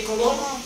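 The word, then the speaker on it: Coulomb: On dit colombe, mais on ne prononce pas la lettre B.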